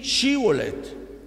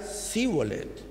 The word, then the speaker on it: Shibolet: le decían ahora pues di shibolet y él decía zolet porque no podía pronunciarlo correctamente Entonces le echaban mano